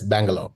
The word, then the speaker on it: Bangalore: Is it how you pronounce? Yes. Bangalore.